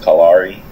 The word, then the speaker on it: Callari: I mean, it's technically pronounced Callari. Yeah. People pronounce it like Callari, whatever they want to pronounce it.